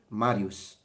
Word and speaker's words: Marius: this so uh yeah if you really want to be accurate marius marius that would be classical latin i don't use